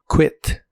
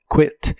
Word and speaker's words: quit: La Q de esta palabra se pronuncia como una K de kilo, quit, quit.